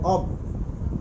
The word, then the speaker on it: of: অব travellers in some shady ভান, দেখো ও এফ, ওই যে একটু আগে বলেছিলাম ও এফ, এটার উচ্চারণ হবে অব, ব উচ্চারিত হবে অব।